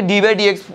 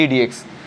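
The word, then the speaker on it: d/dx: আছে এই ডিডি এক্স এটাকে ডিবা ডি এক্স উচ্চারণ করবা না তাহলে কিন্তু ভুল এটাকে উচ্চারণ করতে হবে ডিডি আর ফিজিক্সে দেখবা তোমরা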